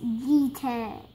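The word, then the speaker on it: jeté: Jete.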